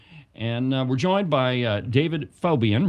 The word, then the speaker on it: Faubion: And we're joined by David Phobian.